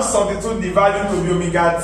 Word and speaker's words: omega: It looks like W. But then it only looks like W, but it is pronounced omega, the last Greek alphabet.